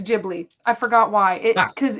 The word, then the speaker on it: Ghibli: watch the video it's Ghibli I forgot why it because it actually means something in Japanese and it's a j so it's spelled Ghibli but they say it in Japanese Ghibli I actually like watched